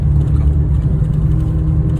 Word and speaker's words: Cusco: Co ciekawe, Peruwieńczycy wymawiają to Z i S jako nieme, dlatego wymawiają to jako Nazca, a Cusco wymawiają jako Cusco.